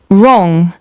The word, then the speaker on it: wrong: Long wrong. The WO is silent, so it's a pure R sound.